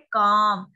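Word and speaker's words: calm: ठीक है, कौन सा लेटर साइलेंट है, जैसे इसको बोलते हैं काम, काम, काम में एल की साउंड नहीं आ रही तो हम इसको अंडरलाइन कर देंगे।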